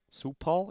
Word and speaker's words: Cipal: Cipal is the pronunciation.